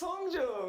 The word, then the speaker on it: Hongjoong: This is how they pronounce their names. Hi, my name is Seonghwa. My name is Hongjoong.